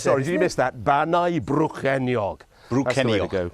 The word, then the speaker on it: Bannau Brycheiniog: So it's Bannau Brycheiniog. That's what I said. Sorry, did you miss that? Bannau Brycheiniog.